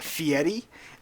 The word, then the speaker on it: Fieri: his new name fieri because he says it's pronounced fieri there's no t in there shut up he's